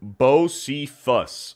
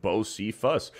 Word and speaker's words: Bosephus: uh so vet gamer Bose fuss okay Bose fuss for $5 it's pronounced bif Fus tribute to Hank Jr